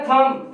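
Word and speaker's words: thumb: इसी तरह थंब, थंब में बी साइलेंट, कॉम, फिर है डाउट, डाउट के अंदर बी साइलेंट है, डाउट के अंदर बी साइलेंट है।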